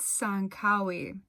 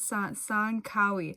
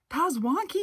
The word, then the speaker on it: Tsankawi: my future self um i think it's sangkawi the t is silent son kawi i had not even like read the sign and i was just like i'm going to the pos wonky ruins i'm so sorry my